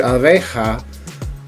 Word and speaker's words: abeja: If you notice in the word abeja, the 2 A's have an ah sound and the E has an A sound.